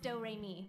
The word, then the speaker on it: Doremi: little sister's name is doremi midorikawa it's spelled like notes and pronounced do-remy it's one of those